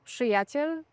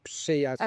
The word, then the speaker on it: przyjaciel: say my friends, and when you see it written, it's PRZ. PRZ, PRZ, przyjaciel. And many people try to say przyjaciel, Przyjaciel, yeah. and it's just like a consonant cluster that you read as przy.